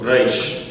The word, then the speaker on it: Reish: So it's a reish from the back of the throat. Reish.